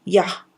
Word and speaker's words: Ja: puede tener varios significados la palabra para Sí en alemán es Ja Y se pronuncia como ya la palabra hebrea ya